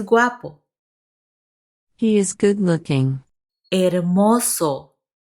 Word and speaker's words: hermoso: Hermoso. Remember the H is silent. Hermoso.